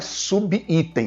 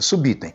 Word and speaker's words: subitem: Veja, item começa por I, sub termina por B, tudo junto, subitem. Não é subitem, não existe subitem, é subitem. Se você for fazer a divisão silábica desta palavra, será assim, subitem.